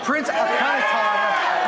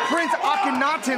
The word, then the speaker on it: Akkanatan: Well, in all seriousness, it's Prince Akkanatan, not Prince Akkanatan like you were trying to tell me before.